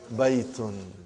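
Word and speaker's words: بيت: Now, normally, when you speak, you do not say baytun, you say hada bayt. Just like in Quran, when you stop, you give a sukoon.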